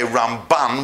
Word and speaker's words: Ramban: Rambam and the Ramban, because the Rambam, you put the emphasis on the first syllable, and when we say Ramban, we put it, as apart from changing M to N at the end, we put it on the second syllable.